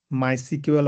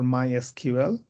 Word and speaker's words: MySQL: MySQL, it can be pronounced MySQL or MySQL. Either one is fine.